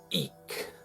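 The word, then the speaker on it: Ik': And the glyph of the day is ik in the Yucatecan pronunciation, and the pronunciation for tone 6 is wak. So today is wak ik, and that means balancing breath and also flowing communication.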